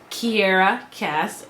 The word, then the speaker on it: Kiera Cass: just wasn't all there for me selection by Kiera Cass a viewer told me that's how you pronounce it so thank you um and I